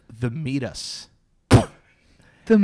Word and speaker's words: meatus: The meatus. The and meatus. And it's spelled M-E-A-T-U-S.